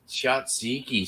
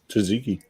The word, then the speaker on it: tzatziki: cheers all right what the heck is shots shotsiki sauce Ridge Kentucky with the the Gyros or Euro Euro pronounce it um yeah it's like uh it's like a cucumber del mayo feta cheese fries with jutsiki sauce tzatziki Tzatziki Tzatziki there you go you